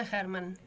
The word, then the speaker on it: Hermann: Ella se llama Liliana Hermann. No sé si está bien dicho, si se pronuncia así porque es apellido alemán. Buen día, ¿qué tal? Sí, Liliana Hermann.